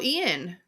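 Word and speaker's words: Iain: And then it's directed by Ian Softly, but again, not spelled how you think Ian's spelled.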